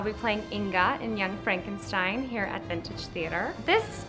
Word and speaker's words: Frankenstein: That's Frankenstein. My name is pronounced Frankenstein.